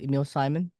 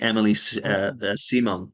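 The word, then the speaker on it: Émilie Simon: French electronic artist Emil or how do you pronounce that Emil Simon oh Emily Emily simong yeah she's um I I I did some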